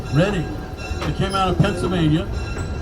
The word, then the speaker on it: Reading: Reading Railroad, spelled Reading but pronounced Reading.